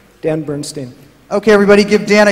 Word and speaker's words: Dan Bernstein: end would be good and what's the exact pronunciation of your name dan Bernstein okay everybody give Dan a huge round of